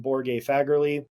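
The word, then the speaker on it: Borge Fagerli: Then let's go to Myo-Reps from Borge Fagerly. Super smart dude. Yes, that is how you pronounce his name.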